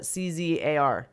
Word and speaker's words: czar: At one point, the outgoing Space Force says, how do you pronounce that? CZAR? Czar.